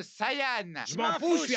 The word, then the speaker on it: Saiyan: chose que tu perdras prince des saillants ça se prononce Saian je m'en fous je